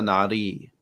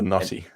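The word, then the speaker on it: Noti: blamed that accent but it was his pronunciation it's the naughty the naughty the naughty see now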